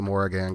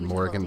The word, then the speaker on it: Morrigan: do it for our first look at the Morrigan, guys. She's really interesting. I don't know why they pronounce it that way. I would think it would be Morrigan, but she says the Morrigan, and so does all her lore.